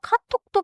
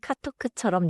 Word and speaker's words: 카톡: 카톡 아이디에서 카톡은 받침 기억 소리가 뒤에 살짝 닫혀요. 너무 길게 카톡크처럼 늘리지 마세요. 카톡 아이디 알려 주세요. 톡 카톡 아이디 알려 주세요.